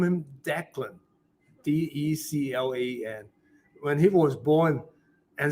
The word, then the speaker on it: Declan: D-E-C-L-A-N. When he was born, and said, how do you pronounce it? I don't want to call it decline or whatever. It's Declan.